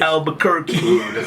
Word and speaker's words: Albuquerque: Is that how you pronounce it, Date? Yes. Albuquerque.